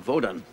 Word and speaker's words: Vodun: Jocelyn was born and raised in Haiti, well-versed in Vodun, the proper pronunciation of what we uninitiated call voodoo.